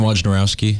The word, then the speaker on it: Wojnarowski: Adrian Wojnarowski. That's how you pronounce it.